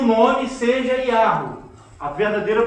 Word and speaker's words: Yahweh: Acredita-se, a possibilidade maior é que a pronúncia verdadeira seria Yahweh. Por quê? Achados arqueológicos e o nome de muitos personagens da Bíblia.